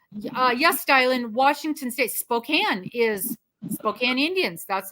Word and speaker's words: Spokane: and they go and your address is in Spokane I said no it is Spokane and you do well to to pronounce that correctly and we feel the